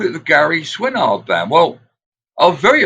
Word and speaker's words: Swinard: Yeah, that's what most Americans Swinard. They sort of like put it in two syllables, Swinard.